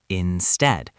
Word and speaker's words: instead: The pronunciation is instead. The stress is on the second syllable, instead.